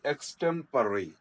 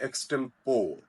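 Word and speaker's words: extempore: पी ओ आर ई the pronunciation is एक्स टेंपररी एक्स टेंपररी आव heard this word miss pronounced by many people many educated people इसको पढ़ते एक्सटम पो this not एक्सटम पो the pronunciation इ एक्टेंपरेरी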